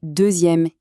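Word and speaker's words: deuxième: Prenez deuxème. Ici, le x devient z pour faire une jolie liaison plus fluide entre les voyelles. On dit 2è.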